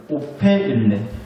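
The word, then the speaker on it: ὤφειλεν: 오페일렌. 요따구로 생겼어요, 헬라어가. 근데 이걸 읽으면 오페일렌이라고 읽는데 무슨 뜻이냐?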